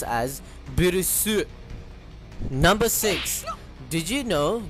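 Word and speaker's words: Beerus: With Bills, it's less clear due to the translation. As in Japan, his name is written and pronounced as Birus.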